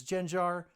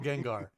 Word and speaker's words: Gengar: And if I mispronounced it, if it's Genjar, bite me. No, it's Gengar, but uh it's not hollow.